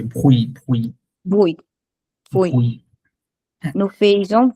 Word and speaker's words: bruit: এই যে নয়েজ হচ্ছে এই যে ভুই, ভুই, Bruit. Bruit. ভুই। হ্যাঁ, Nous faisons bruit. ভুই। নো ফ্রেঞ্জো ভুই। আমি বানানটা ভুল লিখছি, বিআরইউআইটি হবে এটা। ইয়েস, বিআরইউআইটি, ভুই। নো ফ্রেঞ্জো ভুই। এই টিটা কিন্তু বলা যাবে না, এই টিটা বলা যাবে